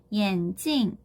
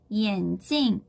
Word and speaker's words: 眼镜: 자, 그럼 중국어로 안경은 발음하실 때 주의하셔야 되죠. 사성으로 眼镜, 眼镜.